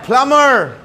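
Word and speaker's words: plumber: आई एम अ प्लम्बर. क्या बोलेगा? प्लम्बर. यस. B silent है.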